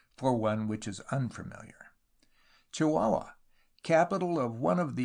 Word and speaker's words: Chihuahua: used to write fondly pronounced chihuahua in London but locally Chihuahua I broke my journey